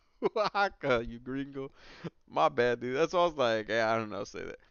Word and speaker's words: Oaxaca: All right, your boy Guy's Toy says it's pronounced Oaxaca, you gringo.